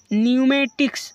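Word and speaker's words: pneumatics: देखो एन से पहले पी है इसलिए पी को साइलेंट कर दिया। इस प्रकार निमोनिया। निमोनिया means निमोनिया। निमेटिक्स वायु शास्त्र।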